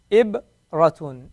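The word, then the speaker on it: إِبْرَةٌ: Let's try to pronounce this one. Ibratun. Very good. Ibratun.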